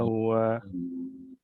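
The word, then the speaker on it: هو: Syahidallahu annahu la ilaha illa huwa. Baik. Afwan, jangan dibaca huwa ya, dibaca hu ya. Hu, dibacanya hu.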